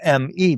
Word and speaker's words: me: Along her journey, she acquired these seven me or power objects. The word me is spelled m e, but it's pronounced me.